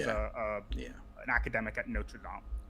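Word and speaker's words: Notre Dame: Uh oh sorry Amy Coney Barrett the woman that Trump appointed she was a yeah an academic at Notredam right thank you for pronouncing it properly.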